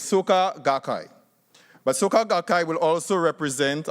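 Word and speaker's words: Soka Gakkai: you pronounce it so I just say remember soccer in Trinidad and Tobago and you're good to go so it's Suka gakai but soccer will also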